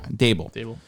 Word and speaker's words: Daboll: And it's Bill Belichick texting Brian Flores accidentally thinking that it's Daboll. Correct? I'm pronouncing his name correct. Daboll.